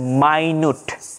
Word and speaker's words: minute: তখন মিনিটের উচ্চারণটা হয়ে যাবে মাইনুট।